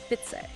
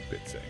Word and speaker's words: Bai Tza: Even though Bida looks like two words, it's pronounced as one unbroken word. Bits. Bits.